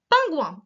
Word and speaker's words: pingouin: Ensuite, notre fameux pingouin. Un pingouin. Alors j'ai bien réinsisté, c'est pas le son ouin avec O-I-N, hein, c'est ou-un.